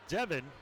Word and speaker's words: Devon: Now Devin, although it is spelled D-E-V-O-N like Devon, this one grounds it to short, and Aarons will flip it to first.